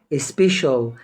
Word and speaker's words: special: فيها المقطع الصوت اول كلمه معايا اللي هي سبيشال معناها خاص ما انطقش السي طبعا زي ما انت بتنطقها تاني